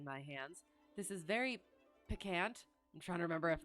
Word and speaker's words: piquant: And then when I do look it up, I still have that memory of how I used to pronounce it. It is piquant.